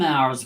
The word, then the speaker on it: hour: So it's an hour, article, because hour begins with the vowel sound. So we need an article A. The H is silence.